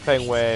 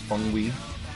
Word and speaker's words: Feng Wei: Ah, Fengway, if it wasn't for this cutscene, I'd forget you exist in the whole franchise. Man, do you know it's actually pronounced Feng Wei?